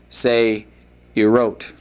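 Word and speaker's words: צעירות: And to make it feminine plural, se'irot. Se'irot would be how that would be pronounced.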